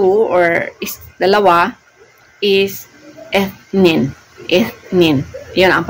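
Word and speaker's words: اثنين: Ang number 2 or dalawa is ethnin. Yan ang pagpo-pronounce doon.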